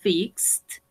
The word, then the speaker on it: fixed: Mi papá arregló, fixed, su bicicleta vieja. Perfect. Recordemos que no pronunciamos la E, fixed.